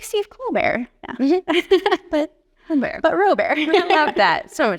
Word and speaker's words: Robert: Robert, last name is spelled like Robert. I always say the best thing that happened for me to explain my name to people was Steve Colbert being famous.